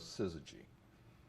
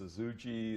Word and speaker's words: Syzygy: techies and engineers and the fact that nobody could pronounce it or spell it didn't seem to bother us and uh people called us suzuji and suzuji and we thought that